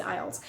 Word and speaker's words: IELTS: english language testing system many people also pronounce it islets or or however they pronounce it i don't know i pronounce it ielts so ielts is international